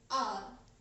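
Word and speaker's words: hour: But here in this case, the first letter is a consonant, but H is silent here and we pronounce it as R. So the sound comes R.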